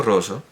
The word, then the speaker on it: rosso: Sin embargo, sí puedo decir que Il Deserto Rosso, El Desierto Rojo, es que lo he pronunciado antes con dos S, Il Deserto Rosso, y es con dos S, por supuesto, rosso, porque si no sería rosa.